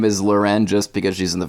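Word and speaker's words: L'Wren: jagger was in a relationship with fashion designer loren scott yeah who i guess like a famous person are you saying her name is loren just because she's in the fashion industry it's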